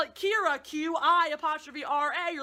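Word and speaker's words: Qi'ra: Kira, spelled Q-I-apostrophe-R-A, pronounced Kira.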